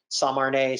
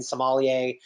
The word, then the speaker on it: sommelier: of sommelier because a lot of people mispronouncing samarnae sama samilian sommelier um but also it's because